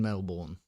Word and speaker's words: Melbourne: You don't say it like a confused Englishman. It isn't Melbourne, nor has it ever been Melbourne.